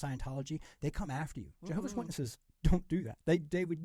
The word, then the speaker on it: Jehovah's Witness: But this is really great information because I think we've been pronouncing it wrong, including that it's an apostrophe S, Jehovah's Witness, not just Jehovah out there, all the way through.